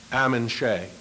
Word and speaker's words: Ammon Shea: forgiven Rodney for that Rodney would have loved Amin Shay that's how you pronounce his name think of ham and eggs backgammon that's that a I'm in Shay a man who swims inside the English language